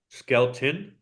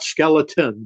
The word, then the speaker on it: Skelton: You mentioned Skelton, right? Red Skelton, is that how you say it? Yeah, not skeleton, but skeleton. Skelton.